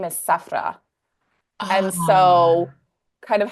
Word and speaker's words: Sephora: name is Sephra. And so Ah, kind of how we pronounce it here in the West is Sephora.